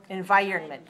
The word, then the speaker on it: environment: Stress the second syllable. Environment. 4-2, environment.